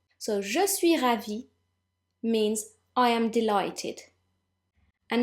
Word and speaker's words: ravi: Now, if you're female, you need to add an E at the end of ravi, but this doesn't affect pronunciation at all. So, je suis ravi means I am delighted.